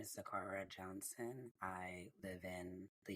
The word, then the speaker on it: Sakhara: Hi Sakhara, how are you? Good. Hi, everyone. Did I say your name correctly? It's pronounced Sakhara. Sakhara. There's no sh.